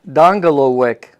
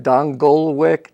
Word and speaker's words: Dongelewic: Actually, the correct pronunciation of my name. Yeah, say it slowly because I almost never use it to make it simpler. It's actually Dongelewic. Okay. Now, I myself pronounce it Dongelewic, trying to help people out.